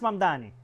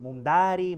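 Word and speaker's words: Mamdani: Fíjense, nadie sabe pronunciar mi apellido. Es mamani, pero a cada rato me dicen Mundari, Mumnari.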